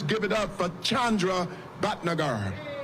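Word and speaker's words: Bhatnagar: Let's give it up for Chandra Batnagar. All right. Thank you, Rev, for your words and for your work. Uh, I'm Chandra Betager. That's spelled.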